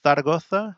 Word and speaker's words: Zaragoza: So let's see how far it is between Zaragoza or Zaragoza. I'm sorry. That's how they say it. And they go like a TH sound for Z's and C's that make a S.